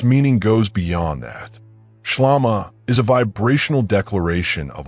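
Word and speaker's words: ܫܠܡܐ: You pronounce it shlama. That is the word, shlama.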